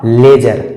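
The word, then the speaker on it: ledger: जी आया है और इसमें भी डी साइलेंट होगा और इसका सही उच्चारण हो जाएगा लेजर इसका सही उच्चारण हो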